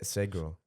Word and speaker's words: Segro: Se- Segro. Oh, Segro.